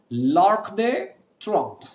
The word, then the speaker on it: L'Arc de Triomphe: You can simply join all of them and say L'Arc de Triomphe.